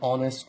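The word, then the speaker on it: honest: কারণ প্রত্যেকটা শব্দ এইচ দিয়ে শুরু, কিন্তু এই এইচটা উচ্চারণ ভাওয়ালের মতো, অর্থাৎ এইচের উচ্চারণটা সাইলেন্ট।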